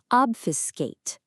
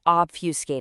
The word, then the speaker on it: obfuscate: It's a verb this time, obfuscate, pronounced O-B-F-U-S-C-A-T.